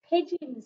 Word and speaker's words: pigeons: bird and it is pigeons it's pigeons so we've got the soft g making the just sound pigeons it's got a really